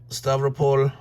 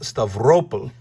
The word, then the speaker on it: Stavropol: They're probably saying, yeah, driving down there without having opened up Stavropol. It's probably pronounced Stavropol, sorry, just like Sevastopol, not Sevastopol, Sevastopol, Stavropol.